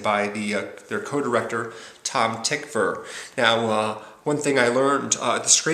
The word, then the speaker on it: Tykwer: the story of murder his name is not pronounced twiker or tiger or tiger but tickfer ticker is how you pronounce his last name